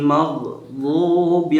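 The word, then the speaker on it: مَغْضُوبِ: তো এখানের মধ্যে আমরা কি পড়বো, গায়রিল মাগ, মাগ, মাখ নাই, মাগ নাই, মা নাই, এটার মধ্যে আমরা সুন্দর করে পড়তে হবে, গায়রিল মাগদুবি আলাইহিম ওয়ালাদ-দাল্লিন।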